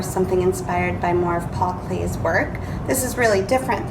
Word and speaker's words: Paul Klee: piece of artwork by paul clay last week's lesson i kept saying paul clee and i'm used to reading about a lot of artists and i found out his name is pronounced paul clay so i wanted to